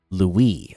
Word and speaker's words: Luis: Also, by the way, just so you know, my name is pronounced Louie. Oh, okay. There we go. Now I know. All right. Louie, lol.